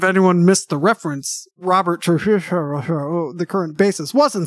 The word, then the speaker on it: Trujillo: I can say Robert Trujillo, by the way. I am capable of saying it. Pronounced Trujillo.